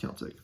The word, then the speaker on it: Celtic: So just to let you know, it is pronounced Celtic.